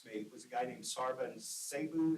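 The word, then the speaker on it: Serban Sarbu: For another thing, I knew that in graduate school, his office mate was a guy named Sarvan Sabu. Is that how you say his name? Yeah, Sarvan Sabu, who had become, for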